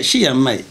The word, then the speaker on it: Shi Yan Mai: Allez voir Jackie Chan, allez voir Gérard Depardieu, allez voir Dominique Satnan, dont le nom, moi, est Chiame. Est-ce que je prononce bien? Chiame.